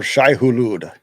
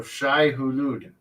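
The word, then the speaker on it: Shai-Hulud: For Shai Hulud. For Shai Hulud.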